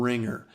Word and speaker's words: RingR: to itunes app store look for ringer and it's spelled r-i-n-g-r and it's able to